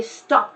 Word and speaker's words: stopped: at all stopped actually just practice just the P and the T sounds together without any sort of vowel in between stopped stopped n Allah